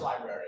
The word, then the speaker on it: library: It's pronounced library, okay? I mean, we've all lived enough time to know it's L-I-B-R-A-R-Y. Not L-I-B-A-R-Y. It's library.